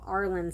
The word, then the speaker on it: Irlen: I actually have Arlen syndrome. I don't know if I pronounce it right.